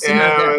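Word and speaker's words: sine die: it sin and die the or same issue, sin it die? Sin it die. It's sin. Sine-Die, Sine-Die, It's Sine-Die is called pronounced Sine-Die, yes. it's pronounced sin and die.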